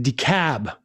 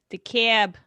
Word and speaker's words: DeKalb: uh jeff from atlanta it's pronounced decab county sorry all right the cab that's my new york spin on it kyle's mad